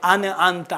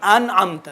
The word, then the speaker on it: أنعمت: المغضوب عليهم ولا الضالين دیکھیں آنے ایک دو افراد نے اس طرح تلفظ کیے تھے انت آنے نہیں انعمت ڈائریکشن انعمت انعمت فصاحت کے خلاف ہے بسم الله الرحمن الرحيم